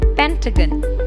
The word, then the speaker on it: Pentagon: so the realization of the word will be Pentagon rhombus is a flat shape with four sides